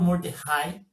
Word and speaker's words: Mordechai: Mas ela é maravilhosa, porque ela é uma palestra, a pessoa, o espírita se chama Álvaro Mordecai, né, se escreve Mordechai, e ele tem origem judaica.